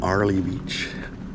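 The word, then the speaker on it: Airlie Beach: Sandy Bay on South mole Island we're in Arley Beach it's spelled earlyy Beach Arley Beach Queensland Australia uh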